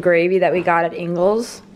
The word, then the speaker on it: Ingles: that we got at ingles i feel like i'm saying it wrong angles no that's the right way to say it you can't open it